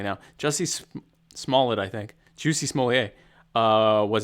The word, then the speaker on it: Jussie Smollett: Jussie Smollett, I think. Juicy Smollett was an actor. Jussie Smollett. Jussie Smollett, yeah.